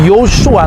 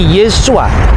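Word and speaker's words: Yeshua: tapi i ya Nah ketika itu diucapkan dalam bahasa RAM bukan lagi Yosua tapi yesua ringan sensus pada abad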